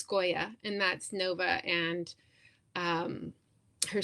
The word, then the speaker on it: Skoya: And then this person was also curious about the name Skoya from Muse of Nightmares, and I don't know. I think I made that name up, but I just, in my mind, it's Skoya, and that's Nova and her sister's stepmother.